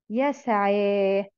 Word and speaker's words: يسعى: ها اسمه اسمه اسمه يسعى ايه ده اه دي يه تتكتب ي وتنطق الف فاسمها الف لينه يسعا طب والفعل ده اسمه